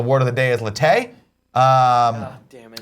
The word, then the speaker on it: latte: The word of the day is latte. Damn it. Or latte, as Kevin wants to say, the American pronunciation, latte.